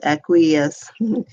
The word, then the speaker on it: acquiesce: this blog post John the word acquiesce pronounced aqueous means accepting something reluctantly